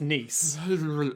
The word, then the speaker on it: Nice: sorry nice and jacuzzi it's spelt nice but i think it's pronounced nice that's how people seem to be saying like francais because there's a city in